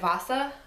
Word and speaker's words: Vassa: I want to pronounce it Vassa, but I received this as part of Uppercase Box, and there was a video with Sarah Porter, who's the author, and she said Vassa, I believe.